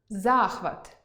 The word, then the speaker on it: захват: – родовий відмінок від слова «вага»); вІдомість (документ) і відОмість (популярність); зАклад (установа) і заклАд (умова або застава); зАхват (піднесення, інтерес) і захвАт (дія); нікОли (це не відбудеться ніколи) і нІколи (мені ніколи це прочитати).